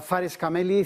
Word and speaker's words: Fares Kameli: Tenemos a Fares Kameli, CMO de Founders. Entiendo que se pronuncia así.